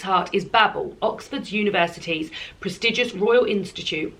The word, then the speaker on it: Babel: Babel, this is pronounced, by R.F.